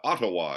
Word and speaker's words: Ottawa: I see okay and and you live in uawa am I pronouncing that correctly pretty close I think that's fine of course it's the arrived from a a native indigenous word here but uh Ottawa yes uh live from Ottawa Canada Canada's greatest